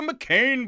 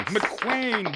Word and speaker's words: McQueen: KCHW Cruise Blues Jam with the McCain Boys. Excuse me, McQueen Boys. Pronounce it right, Scott.